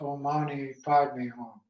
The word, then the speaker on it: Om Mani Padme Hum: In India, it's pronounced Om Mani Padme Hum.